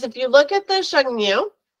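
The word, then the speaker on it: Xiongnu: What is the connection between the walls and this is really kind of the way it's pronounced is Shengnu. Shengnu.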